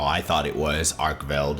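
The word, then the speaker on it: Arkveld: yesterday starting off with the flagship which is pronounced just how I thought it was arkel it's pretty straightforward and uh the next one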